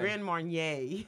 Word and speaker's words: Grand Marnier: say it correctly man what's the right way Grand Marnier Marnier Wanye okay you can say